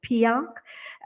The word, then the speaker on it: PIARC: He has been nominated as the president of the World Road Association, PIARC, pronounced PIARC.